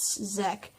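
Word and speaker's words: Czech: spelled c-- z e CH i'm going to pronounce it Zek and slavic religions operated more fully within the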